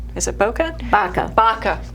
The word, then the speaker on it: BACA: And then one other foundation that I know you're working on, so many, but one more is BOCA. Is it BOCA? BACA. BACA.